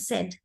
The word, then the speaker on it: said: So say is a long sound, but when it is said, it becomes the short E sound, said.